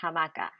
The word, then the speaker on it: hamaka: let's tackle hammock hamaka how do we know that it's actually ha and not just a well let's break it down to its word parts the word part ha appears at the beginning of words for anything that hangs okay so we know a hammock hangs so that starts with a ha the word part